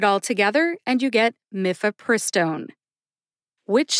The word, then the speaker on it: mifepristone: in let's talk about miffapristone first mifiperstone has four syllables mif which rhymes with cliff which sounds like either